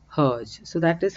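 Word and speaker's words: Hergé: is the french rg the french pronunciation of rg is herge so that is how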